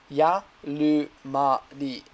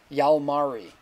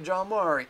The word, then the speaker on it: Jalmari: okay, he also says, hint, it's Yalumari. He wrote in katakana Japanese, or Yalmari. So he's saying, don't pronounce my J.